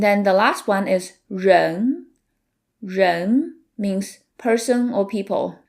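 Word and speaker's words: 人: The R in run is a retroflex sound which requires you to curve the tip of your tongue backwards which can be tricky at the beginning but with practice I'm sure you'll learn the hand of it.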